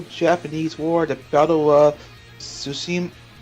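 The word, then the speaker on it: Tsushima: war the battle of susim i think the tea is silent like a tsunami hello in the destruction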